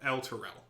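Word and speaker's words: Elturel: Tyrell el Toro a emphasis on the first and last syllable el Toro kind of like Yael Oh excellent yes except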